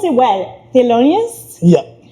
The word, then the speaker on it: Thelonious: I'm gonna try to pronounce it well. Thelonious? Yeah. Thelonious, right?